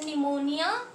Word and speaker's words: pneumonia: उसके बाद हमारे पास जो डिसऑर्डर है दैट इज निमोनिया, इसमें पी साइलेंट होता है स्टूडेंट।